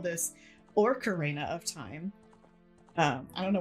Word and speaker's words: Ocarina: it, but I also did not know how to pronounce Ocarina. It was Ocarina Oh, of Time. it was Orcania. That's what that's what we call it. We call it Orcania of Time.